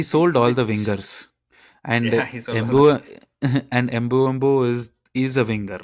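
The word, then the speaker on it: Mbeumo: Embu. It's from the right wing. So say it right once. Embu. There's no at the end. Huh? There is no There is no b at the end.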